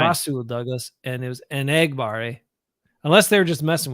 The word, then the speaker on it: Enagbare: their names differently than the way everyone's been pronouncing them? A couple of the guys on defense. Enagbare, yeah. Enagbare. He said Enagbare.